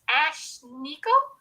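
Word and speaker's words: Ashnikko: serious cover um invitation i don't know how you say it but it's ash nico um a s h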